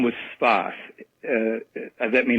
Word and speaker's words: Sfath: Whose name was Sfath. That may not help matters, but he was called Sfath.